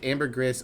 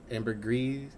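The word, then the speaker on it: ambergris: Both Amber Gris or uh AM Amber Gree are accepted. I wish I had a better hold on the phonetic alphabet. Gris and Greece. Okay. But the S is pronounced.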